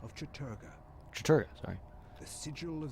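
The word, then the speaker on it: Chattur'gha: They are the Black Heart of Mantarok, Claw of Chatagura. of Chaturga, Chaturga, sorry.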